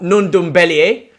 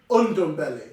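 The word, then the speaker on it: Ndombele: I wanted to speak about Nundumbele, and I want to speak about... You didn't say his name right. Undumbele. Shut up. Non-Dumbele.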